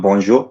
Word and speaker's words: bonjour: It's not jo. Bonjour. It's not bonjour. It's bonjour, and that is the most correct pronunciation than any English person who is making it.